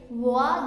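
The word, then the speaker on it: whoa: That's how you use W-H-O-A, wah, that's how you write it and that's how you pronounce it.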